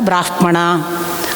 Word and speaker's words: ಬ್ರಾಹ್ಮಣ: ನಿಮಗೆ ವಿವರಿಸುತ್ತೇನೆ ನಮ್ಮ ಅಪ್ಪ ಅದಕ್ಕೆ ಸಾಮಗಾನದಲ್ಲಿ ಮಾತ್ರ ಬ್ರಾಹ್ಮಣ ಅಂತ ಯಾಕಂದರೆ ನಾದಕ್ಕೆ ಅನುಗುಣವಾಗಿ ಉಚ್ಚಾರವನ್ನ ತೇಲಿಸಬಹುದು ಅಲ್ಲದೆ ಹೋದರೆ ನಿಜ ಉಚ್ಚಾರ ಸ್ಪಷ್ಟ ಉಚ್ಚಾರ ಬ್ರಾಹ್ಮಣ ಅಂತ ಬ್ರಾಹ್ಮಣ ಈ ತರಹದ ಉಲ್ಲೇಖಗಳನ್ನ ಕೊಡ್ತಾರೆ